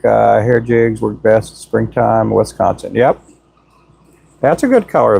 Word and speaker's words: Wisconsin: When I lived up there, they corrected me on my pronunciation of Wisconsin. I always said Wisconsin, and they said it's Wisconsin.